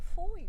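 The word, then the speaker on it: Fowey: picnic and I finally found out how to pronounce my final destination and then so you walk to Foy don't you just the same I'm not sure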